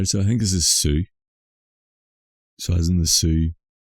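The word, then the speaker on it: Sioux: Native American ha so I think this is Sue so as in the Sue s o ux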